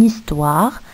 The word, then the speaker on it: histoire: comme l'exemple suivant, une histoire, un haricot. Le H ici n'est pas prononcé. Le H c'est muet.